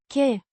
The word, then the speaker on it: că: Pronounced che, a very short sound, like the K in kick, followed by a very brief sound, împărtășesc, means I share.